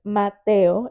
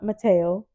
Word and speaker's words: Mateo: And now, for example, Mateo, his name is Mateo. It's not Mateo. It's Mhm. not Matthew. It's Mateo. And I tell him all the time, your name isn't whatever they want to say. Your name is Mateo.